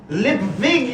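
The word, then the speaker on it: Lipwig: you mr lip wig it's pronounced libvig you with a v where are we the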